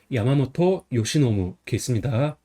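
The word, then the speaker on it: 山本由伸: 그래서 매산은 야마라고 있고 근본은 보통 모터라고 읽어요. 그다음에 말미암을 유는 요시, 펼는 노부습니다. 그래서 야마모토 요시노무습니다.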